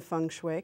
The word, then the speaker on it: feng shui: your name and funu my name is loer loer and funu kind of Rhymes um funu yes you